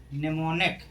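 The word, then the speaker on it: mnemonic: ऐसे शब्दों में किसका उच्चारण नहीं होता है? एम का। एम क्या रहता है? साइलेंट। जैसे निमोनिक।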